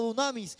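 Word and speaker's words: δύναμις: La palabra poder en el griego se pronuncia como dunamis, un generador de electricidad, algo que iba a generar poder.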